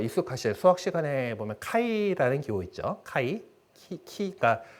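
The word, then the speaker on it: χ: 그러니까 어떤 거냐면은 그 우리 이제 영어식 발음이 더 익숙하실 수학 시간에 보면 카이라는 기호 있죠. 그러니까 CHI이기 때문에 그 발음은 키라고 있는 건데 그게 대문자가 X로 씁니다.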